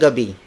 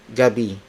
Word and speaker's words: gabi: the Filipino phrase for good evening it's magandang Gabi Mugen and OB magodonga be magandang Gabi word for word it's magandang Gabi magandang Gabi magandang Gabi Gabi spelled as G a B